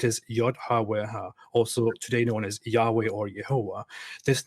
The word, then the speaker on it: Yahweh: about pronouncing its name yahweh yeah way you do want to stress on the first syllable yahweh did you get it